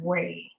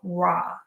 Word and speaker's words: Ra: the Asian pronunciation of the word r they pronounce it as Ray okay it's a common mispronunciation of raw okay ke is a Japanese word for internal